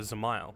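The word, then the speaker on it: Dzemael: high and zile oh zile apparently yeah I guess the D is silent but four houses to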